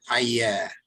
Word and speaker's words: ayah: what they call verse, you would pronounce it ayah. Can you say that? Yeah. Yeah, just A-Y-A, if you were to transliterate it.